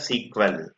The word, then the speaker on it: SQL: people English query language you can pronounce a sequel simple English query language